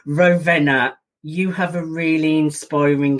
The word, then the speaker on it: Rovena: absolute pleasure and i'll say your name again rovina yes it's a difficult one for us here in the uk to pronounce rovena you have a really inspiring story of moving